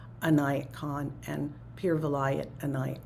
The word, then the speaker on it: Inayat: His first name was Inayat, and it's Inayat.